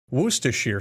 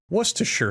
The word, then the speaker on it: Worcestershire: good sir worcestershire sauce worcestershire sauce was to sure sauce all of these pronunciations are acceptable as are the endless